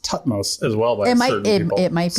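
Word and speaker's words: Thutmose: It's really hard to pronounce that e on the end of it. It feels wrong, right? And I think I've heard it pronounced tutmos as well by it might be.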